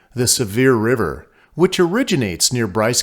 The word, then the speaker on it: Sevier: shore of Lake seir although the lake has a French name and spelling the locals pronounce it severe not seier as the French would